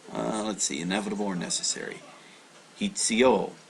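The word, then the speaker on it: 必: Hitsuyo. So this is actually pronounced hitsu. Hitsu.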